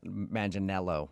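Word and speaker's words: Manganiello: Uh, because we talked to him and he told us that a lot of people say he looks like Joe Manel Manel.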